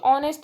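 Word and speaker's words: honest: ऑनेस्ट बॉय तो बच्चों ऑनेस्ट में ह है लिखा हुआ लेकिन यहां साउंड किसकी है वो बल्कि है ऑनेस्ट ओ की यहां पर साउंड आती है तो यहां पर लिखेंगे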